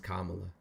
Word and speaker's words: Kamala: Kamala I'm open to conversation her name is kamla sorry I I do not mean to pronounce it wrong that is my bad uh